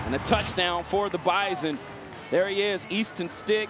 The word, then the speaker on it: Bison: And by the way, for those asking, it is pronounced bison. There is a invisible yet very audible Z.